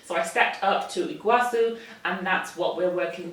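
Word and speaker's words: Iguaçu: It is a NARS Soft Matte Complete Foundation, and I got this in the shade Iguacu, or Iguacu, I think that's a soft C.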